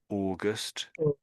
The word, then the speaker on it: August: Or or uh and again, pretty much everywhere you see au at the front of a word, it comes out as or the same with the month of the year, August.